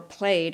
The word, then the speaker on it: plaid: call them checked and the plaid or played as it might be pronounced as a is an